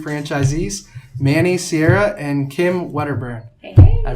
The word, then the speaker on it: Wedderburn: Today, I have the privilege of welcoming on 2 Orangetheory franchisees, Manny Sierra and Kim Wedderburn. Hey. I pronounced You nailed it.